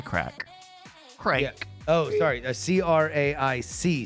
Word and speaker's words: craic: in my says the Brit say what's the crack I think it's the Irish that says that